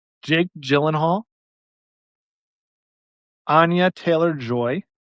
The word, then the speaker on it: Anya: I have no idea how old uh Ana Taylor Joy, is that how you say it? Anya. Is it Anya? Yeah. Anya Taylor nailed it.